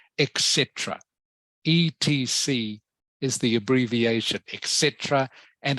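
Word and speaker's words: et cetera: the way remember this word here this is pronounced etc etc is the abbreviation Etc and it means and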